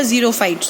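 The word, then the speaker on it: xerophytes: देखो ये zero, x को जीरो क्यों पढ़ रही हूँ, ये जीरोक्स वाला जीरोफाइट्स होता है। जैसे हम जीरोक्स की स्पेलिंग एक्स से स्टार्ट होती है पर पढ़ते हम जेड है, ऐसे ही जीरोफाइट्स एक्स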